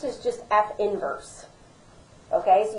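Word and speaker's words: f⁻¹: is pronounced is just F inverse okay so you don't even say the negative one that's just part of the notation so we have the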